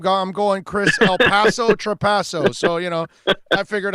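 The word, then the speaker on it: Trapasso: Yeah, Trapaso.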